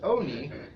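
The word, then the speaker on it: עני: It's pronounced oni, which may mean one of a couple of things.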